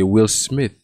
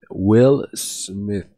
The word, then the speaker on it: Will Smith: C'est TH, c'est Will Smith. Will Smith. Regarde. Smith. Et non Smith. Will Smith. Cérémonie des Oscars de 2022, c'est Will Smith.